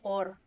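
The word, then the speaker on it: אור: Luz en hebreo se dice or.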